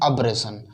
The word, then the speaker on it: abrasion: अब पीछे की साइड चल देंगे, इसको बोलते हैं अब्रेशन। अब्रेशन, शायद स्पेलिंग गलत हो सकती है, ठीक है। ABRASION, ABRASION, अब्रेशन, ये डबल एस नहीं आएगा, ये अब्रेशन, ठीक है, अब्रेशन बोलते हैं।